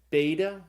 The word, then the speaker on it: beta: father second letter is the B sound it's called beta like in the word Bible the third letter there's no